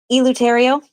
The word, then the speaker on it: Eleuterio: Is it Eleuterio? Oh, you got it. Yes. All right. So we have today Suki Eleuterio, and she is a